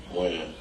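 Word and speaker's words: Wynn: Win. Win? Or when? Win. Win. W-E-N or W-I-N? W-Y-N-N. W-Y-N-N. Okay.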